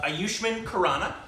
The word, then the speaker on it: Ayushmann Khurrana: channel our stupid reactions and it's with uh aayushman kanana uh so we love himito bites from AR